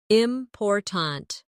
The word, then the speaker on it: important: For example, in the word important, we stress the second syllable, important.